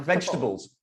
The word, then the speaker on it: vegetables: Like vegetables. Vegetables, not vegetables. Oh, right. Vegetables, yeah. Vegetables. Comfortable. Comfortable. So 3 syllable only for comfortable.